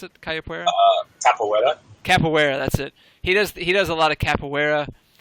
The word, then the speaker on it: capoeira: Is that how you pronounce it? Capoeira? Capoeira.